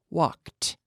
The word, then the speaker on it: walked: sound, in the past, it sounds like a T. Walked. Walked. We don't say walked. There's no extra syllable.